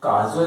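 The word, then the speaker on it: cajole: ये काजोल नहीं है। काजोल जो होता है ना, वो के से लिखाता है, काजोल। ये जो लिखा हुआ है आपका ना, ये लिखा हुआ है केजोल। इसका प्रोनाउंसिएशन क्या होता है, उच्चारण क्या होता है? केजोल।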